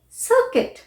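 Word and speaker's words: circuit: UI combination is pronounced as I. UI अगर आपको word में दिख रहा है तो उसे आप I की तरह प्रोनाउंस करेंगे मोस्ट ऑफ टाइम, जैसे सर्किट, बिस्किट।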